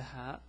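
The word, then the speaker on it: ه: say and it's the hat the pronunciation is ha is like the H in English now with animated -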